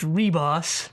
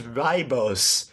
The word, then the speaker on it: Ribos: for this one well it's actually pronounced reboss yeah so yeah I honestly thought it was ribos basically since we started